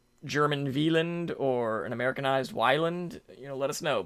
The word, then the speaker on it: Wieland: was Wyland well villain it's like German pronunciation veland right when you say it's An American Tale so he was saying so do we want to say Wyland then how do we